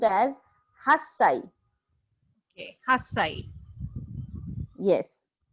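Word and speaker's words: 八歳: So according to pattern, it should be hachisai, but it is an exception. So 8 years old is pronounced as hassai.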